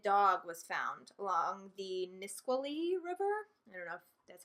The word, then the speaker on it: Nisqually: weekend a mutilated dog was found along the Nisqually River enough that's how you pronounce it it was skinned and its tail